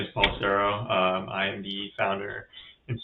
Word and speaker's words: Paul Cerro: So, we're going to have a discussion with Paul Cera. Is that the right pronunciation? Uh yes, that is that is how you should I should be pronouncing it, yeah.